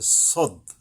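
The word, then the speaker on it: صاد: আইসা আগাম মিশবে এবং অক্ষরটা মোটা ভাবে আদায় হবে সদ সদ শীষ মানে তো একটু শ্বাসের মত আসছে সে সদ মোটা ভাবে এবং একটু শীষসহ আর সিন সিন এটা হবে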